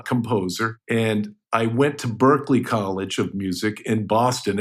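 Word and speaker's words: Berklee: they name it Berkeley the guy's name was Lee Burke so it's spelled b e r kle e e okay so basically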